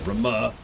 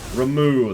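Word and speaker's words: Ramuh: Yeah, Rama, or however they... I've already forgotten how they pronounce it.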